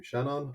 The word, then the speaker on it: Seanán: and I'm the only person with this name Shannon ok sh the English form sh sorry going